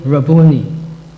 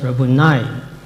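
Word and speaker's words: Rabboni: Then Mary responded by saying Rabuni. Actually should be pronounced Rabunai. the accent which means my teacher.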